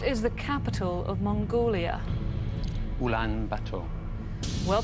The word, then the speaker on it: Ulaanbaatar: Ulaanbaatar. Well pronounced, that's right.